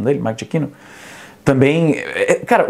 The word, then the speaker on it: Giacchino: A trilha do Michael Giacchino, que acho que é assim que pronuncia o nome dele, Michael Giacchino, também, cara, o filme, tecnicamente falando, é um filme espetacular.